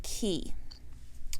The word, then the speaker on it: quay: So you get great stitch definition, and this is the colorway Key. So that is spelled Q-U-A-Y. It's the British spelling of the word key, which is, of course, like riverside, harborside, kind of that.